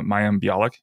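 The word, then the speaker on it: Mayim Bialik: uh how do you say her name Uh mayam biic mayam biic current co-host of Jeopardy yes um yeah and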